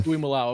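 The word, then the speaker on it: Tuimoloau: But my favorite pick, it's probably going to be JT to Tui Malo. Is that how you say it? Was I close? Tui Malo. Yeah, Tui Malao.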